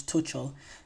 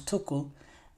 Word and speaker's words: Tuchel: TL's name wrong some I always say Thomas Tel it's Thomas tokle um but yes Thomas